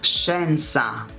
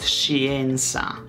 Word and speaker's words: scienza: Be careful though, because when she, SCHE, is followed by E, then the E, the Italian E, is silent. It's scienza, not scienza.